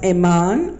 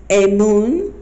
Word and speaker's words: Amun: screen and his name first part of his name was pronounced a man also felt a moon Amen or a man he's an Egyptian deity